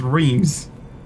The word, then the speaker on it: Reims: No, it's Reims. It's pronounced Reims.